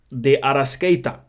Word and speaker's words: De Arrascaeta: Hold on, let me try and pronounce it correctly. What's my man's name? Hold on. Because there we go. De Arrascaeta.